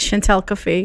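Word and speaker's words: Chant'el Cafe: her baby but um the chantel cafe i don't even know if i'm pronouncing this right yes that's right chantal cafe chantal cafe okay so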